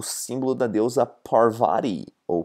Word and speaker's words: Parvati: Ela é o símbolo da deusa Parvati, ou Parvati, na pronúncia brasileira, e significa energia feminina, que é a energia mais importante do nosso universo, que é a mãe natureza, né?